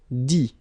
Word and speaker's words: dit: Dit. Okay, phonetically, same thing here, you don't pronounce the final T.